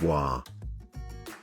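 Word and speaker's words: は: particle wah particle wah in writing it is ha in hiragana but is pronounced as wah it is a topic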